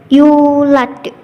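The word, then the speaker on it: يولد: Cara membacanya dengan pantulan yang tidak terlalu kuat, yaitu tadi seperti yulad.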